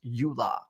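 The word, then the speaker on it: EULA: won't do any shadiness while using company equipment pronounced Ula I don't think I S signed a Ula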